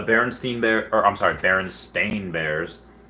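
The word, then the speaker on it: Berenstain: i remember those guys but how would you spell it it's uh bernstein b-e-r-n-s-t-i-n no it's b-e-r-e-n-s-t-a-i-n baron stain bears like does not compute does not compute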